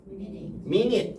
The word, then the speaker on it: minute: 근데 영어가 참 희한한 게 minut이 스펠링이 어떻게 되어 있냐면 M-I-N-U-T-E예요. M-I-N-U-T. 여기까지는 이해가 돼요. M-I-까지는. me까지는 맞죠? 그런데 minute 이렇게 얘기하는데 지금 이 U가 지금 완전히 잘못 들어와 있는 그런 느낌이에요. 맞죠?